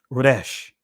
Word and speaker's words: resh: In the Israeli language is pronounced Resh.